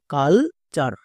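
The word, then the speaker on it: culture: যেমন সি ইউ এল, কাল, টি ইউ আর ই, চার। এটা হচ্ছে ওয়ার্ড প্যাটার্ন। ওয়ার্ড প্যাটার্নে কোনো টিপস কাজ করে না। এর উচ্চারণ আমরা জানি চার হই, তাহলে চার ইউজ করো। এর উচ্চারণ কি হলো? কাল চার।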